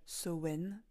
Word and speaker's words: Samain: à l'époque des Celtes Samain que l'on prononce davantage sen marquait la la fin